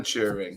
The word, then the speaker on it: Turing: That's how you say it, Turing? Alan Turing, yeah.